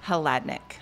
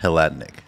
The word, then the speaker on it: Hladyniuk: So it's like you can spell it out phonetically. Breakdown. Yeah. Hladyniuk. Hladyniuk.